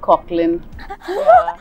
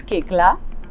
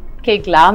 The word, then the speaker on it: Koechlin: Well, it's rather vulgar, but Koechlin. You know, unfortunately, it's just spelt in such a way that it's easy to pronounce it that way. But it's Kekla, like Kekla mere liye.